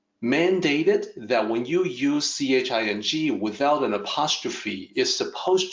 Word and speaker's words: Ching: that when you use ch ing without an apostrophe is supposed to sound like J so the will you look at and say Ching is actually Jing ji ng sound in the way Kyle